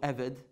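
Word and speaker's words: עבד: Because you have to understand, we have a Hebrew word called eved.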